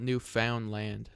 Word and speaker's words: Newfoundland: Yeah, I live in Newfoundland. Uh, most people here are like British, you know, that came from that area. Yeah, Newfoundland's in Canada. Yeah, I'll show you guys. Newfoundland is spelled new found land.